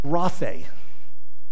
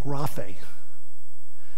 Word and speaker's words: graphe: Graphe. Basically, G-R-A-P-H with an A, a long A on the end. Graphe.